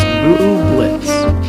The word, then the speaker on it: Bublitz: It is pronounced Bublitz.